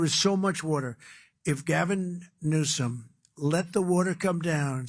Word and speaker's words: Gavin Newsom: If Gavin Newsom let the water come down, see the way I pronounced his name properly for a change, if this guy allowed